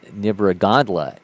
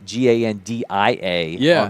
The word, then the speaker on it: Nibragandla: And he says Nibragandla, and his coach says there's an L, and they had it as Gandia on the profile.